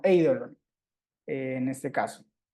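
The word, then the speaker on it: εἴδωλον: va a pasar con el acento se va a escribir sobre la segunda de la vocal del diptongo pero recae digamos sobre la primera Entonces eidolon no no eidolon no sino Idol en este caso o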